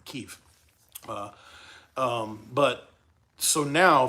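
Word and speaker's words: Kyiv: is like there's a whole underground city under Kiev that's crazy I should say it right Kiev uh um but so now food is back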